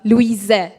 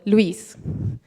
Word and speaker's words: Louise: German version and well my name is pronounced the French way so Louis not Louisa so Louise so next up well